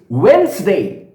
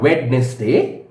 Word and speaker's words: Wednesday: me yes excellent you've got it correct it's wednesday it's not wednesday although we do write it as wednesday but it's pronounced as wednesday friends what's today well it's